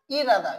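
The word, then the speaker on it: 일하다: দেখেন নিয়মটা খেয়াল করেন, রিউল বাচ্চিমের পর যদি হিউত থাকে, তাহলে হিউতের উচ্চারণ না হয়ে এই যে রিউলটা আছে, এই রিউলটা উপরে অর্থাৎ হিউতের স্থান দখল করে, এই হিউতের স্থান দখল করে ডয়বিন্দ র উচ্চারিত হয়।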